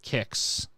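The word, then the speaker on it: Qix: So this is Kicks, and I've always pronounced it Kicks.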